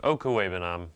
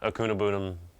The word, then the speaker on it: Okwuegbunam: That's how you pronounce it. Okwuegbunam, not Akunabunam, or just Albert O. It's Okwuegbunam. Not that hard.